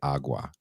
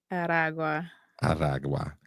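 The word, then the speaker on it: Aragua: I always say awa. Ara.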